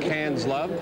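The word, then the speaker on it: Quinze Love: Now, this is pronounced Cairns Love. That means 15 love in French.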